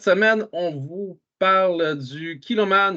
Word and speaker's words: Kilchoman: on vous parle du kiloman ou kilkoman pour ceux qui le prononcent pas bien mais le H Mu by the way kiloman